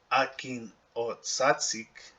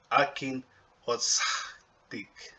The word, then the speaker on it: akin o tsik: And so if you look at this now, we know that the actual pronunciation is not akin o tsatsik, right? It's akin o tsik. Okay, so there's a H sound.